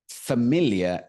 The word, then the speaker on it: familiar: not habitual habitual habitual habitual okay next word familiar f a m i l i a r